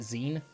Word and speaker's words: X33N: I pronounce it Zen.